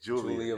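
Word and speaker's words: Giulia: Julia.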